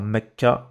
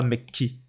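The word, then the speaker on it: مكة: Faut juste comprendre qu'avant celle-là, on entend A. Mecca. Ce sera pas Mekki. Ni Mekku.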